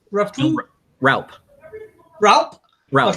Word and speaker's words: Raupp: how do you say your last name roughly Ralph Ralph Ralph k bill rep rep from go